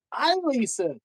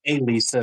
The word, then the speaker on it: Ilisa: No, it's Elisa. No, it's Ilisa. Damn it, I said Elisa 3 times.